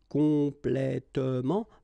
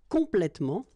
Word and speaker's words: complètement: talking about the adverbs, and the adverbs that will end with ement. Okay, in most of the cases, you don't pronounce this here.